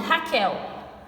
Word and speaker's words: Raquel: ele diz o seguinte não pronunciamos a letra U nas palavras quando vocês falam meu nome Raquel Raquel o Raquel vocês percebem que o que está acompanhado do u ou vocês falam vocês